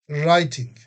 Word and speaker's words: writing: We don't pronounce W. Just writing.